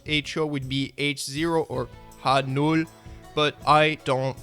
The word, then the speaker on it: H0: comes from Germany, where they call it H0 because it's supposed to be half of the zero scale, so the correct way to pronounce HO would be H0 or H0, but I don't care.